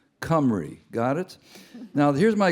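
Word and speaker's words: Cymru: it this is because they live in cry C which means which is the way the Welsh say whales c ym r u cry got it now here's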